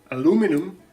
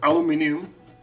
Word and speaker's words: aluminium: I'm thinking of aluminum or aluminium, depends on from where you are. The pronunciation is different.